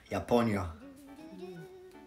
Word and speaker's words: Japonia: Japonia.